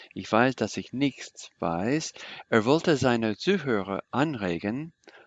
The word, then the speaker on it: nichts: Von sich behauptete everybody, Von sich behauptete ich weiß, dass ich nicht weiß. ich weiß, dass ich nichts weiß. Good. Thank you for getting this S pronounced. I missed it. Ich weiß, dass ich nichts weiß.